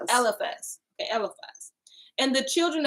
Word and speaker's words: Eliphaz: Eliphaz.